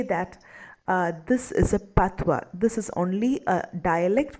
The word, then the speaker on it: patois: We also need to be aware of this word patois, P-A-T-O-I-S, which is pronounced as patois.